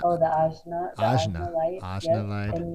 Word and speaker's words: Ajna: The Anja? oh, the Ajna light.